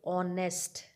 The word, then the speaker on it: honest: a before them now if some words begin with an unsounded H they also take and with them sound silent like honest like are like honorable